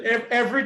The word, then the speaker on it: every: most people, when they're just speaking normally, they don't say every, they say Right. every. Right. Just every day, every. Right. Right. Two syllables, not three.